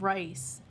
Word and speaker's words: Reis: But we also have an Aslan beer that is called Rice, but it's spelled like REIS, and they used rice in their beer.